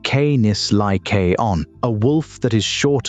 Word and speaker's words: Canis lycaon: The northern road ran through Ontario, and up there in the forests around Algonquin, the coyotes met eastern wolves, Canis lycaon, pronounced Canis lycaon.